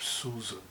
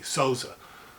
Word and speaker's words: Sousa: The famous Philip Sousa band, John Philip, as Americans say, Sousa, Portuguese is Sousa, band had amazing cornet players playing virtuosely.